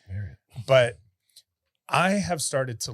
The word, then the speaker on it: Marriott: said it right, Marriott.